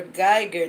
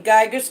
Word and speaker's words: Guyger: talk about this Amber Geiger thing this case amber liar Geiger's it's funny how her last name rhymes with liar tiger lion Wow anyway